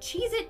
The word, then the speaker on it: Cheez-It: number nine we have Cheez-Its but apparently that tasty cheese cracker is not called Cheez-Its it's Cheez-It either I've been saying it wrong my entire life or this is proof